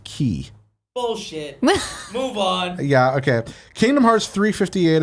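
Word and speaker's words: χ: the X and Kingdom Hearts Union X is pronounced key yeah okay Kingdom Hearts 358 over 2 days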